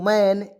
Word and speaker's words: man: आइए, MAN तो मैन, एम से मैं, देखिए मैं और एन से लिखेंगे ना, मैन। तो एम से म, एन से न, दो कंसोनेंट के बीच में ए आया, उसको उच्चारण आई के रूप में करेंगे।